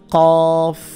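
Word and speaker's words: قاف: মাথাটা খেয়াল রাখতে হবে এটার নাম হচ্ছে কফ কফের উপরে দুই নুকতা কফ জিব্বার গোড়া থেকে উচ্চারণ করতে হবে এটা এটা হচ্ছে ক্যাফ জিব্বার গোড়া যেখান থেকে উচ্চারণ করছেন তার একটু সামনের দিকে আনলে যেটা হয় সেটা হচ্ছে ক্যাফ ক্যা ক্যা ক্যাফ এটা কফ এটা ক্যাফ কফ এবং কাপের যে পার্থক্য এটা আমাদের খেয়াল রাখতে হবে এইটার নাম হচ্ছে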